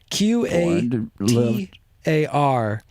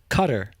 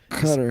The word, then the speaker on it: Qatar: a t a r cutter cutter this how it's pronounced I guess I always thought it was Qatar but we met a guy who lived there and he pronounced it cutter it's a country a